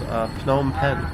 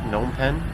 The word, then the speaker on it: Phnom Penh: in a city called phnom penh some people incorrectly pronounce it gnome pen but this is a